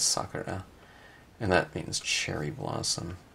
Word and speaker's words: Sakura: company was called sakura used to pronounce it Sakura but I think it's sucker huh and that means cherry